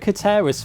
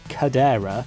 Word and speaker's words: Katera: it so since mr katera's family oh yes by the way their surname is katera not cadera it seems that google translate always gets their family name wrong masha hero actually corrected